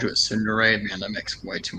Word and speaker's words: tsundere: Yeah, that guy earlier in the chat, he called you a tsundere.